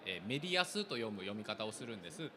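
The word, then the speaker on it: 莫大小: Simply put, Wakayama's knitwear industry is written as 'Modaisho' but pronounced as 'meriyasu'.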